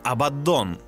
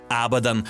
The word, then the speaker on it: Абаддон: В штате Вайоминг, на аванпосте 77 проживал Титанус Абаддон. Его имя встречается с ударением на каждый из слогов – Абаддон, АбАддон, АбаддОн – не известно имеет